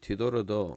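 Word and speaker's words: תדר: 그리고 그래서 톱 아쉐르 러 디도르 디도르도 중복점입니다. 두 번 나왔죠. 왜 앞에 모음이니까 디도르 이렇게 발음해야 되겠네요. 톱 아쉐르 러 디도르 미쉐 디도르 벨로 테 샬렘 서원을 이행하지 않는 것보다 그죠?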